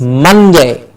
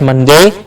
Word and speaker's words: Monday: Yes, Monday. The mun gets a clear stress. Monday. Not Monday, but Monday. Mun and day.